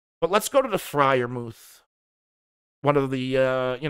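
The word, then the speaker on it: Freiermuth: end anyway um but let's go to the friar mouth one of the uh you know one of the more exciting names i spell it yeah pat fry your mouth f r e i r muth so let's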